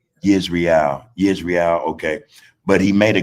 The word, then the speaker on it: Israel: No, it's not Israel. It's Israel.